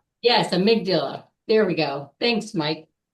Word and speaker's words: amygdala: These stressful moments come from our I don't know how how to say it, but amigdula. Yes, amygdala.